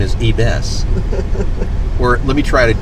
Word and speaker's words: Yves: I call it Eves. I know. Yves preferred. Yves has told me that I pronounce it right.